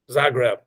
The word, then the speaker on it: Zagreb: So GT, one more time, what's the right way to pronounce this word? Zagreb.